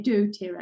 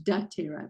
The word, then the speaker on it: dōTERRA: into this I'm I'm learning to say DOA as opposed to daa because my son was listening to other people he goes you say it wrong Mom so I'm corrected